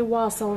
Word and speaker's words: wassail: wikipedia information on wassel some people call it wassel i'm from texas and so we all say wassel around here so that's how i'm going to pronounce it so wassel has a